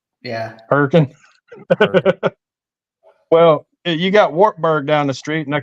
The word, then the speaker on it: Wartburg: Well, you got Wartburg down the street, and they call that Wattburg.